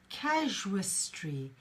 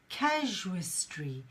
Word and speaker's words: casuistry: know what it means the pronunciation for that is casuistry casuistry so it's just like the word casual so if you have